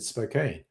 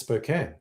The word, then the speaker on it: Spokane: So, that's the correct pronunciation because of the way it's spelled. I've always said Spokane, but it's Spokane.